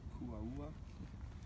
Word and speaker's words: Kuaua: So it would be Kuaua, but Kuaua. Kuaua.